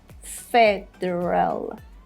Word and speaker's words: federal: But the first sound should be said quite strongly because the word stress is there. Federal, federal, which means relating to the whole system of a country, not every single state.